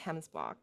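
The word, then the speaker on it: gemsbok: a way to go right these are called hemsbot yeah well it's spelled with a g but pronounced hemsblock or oryx o-r-y-x now we have some type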